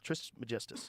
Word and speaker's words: Trismegistus: Trismegistus. Trismegistus.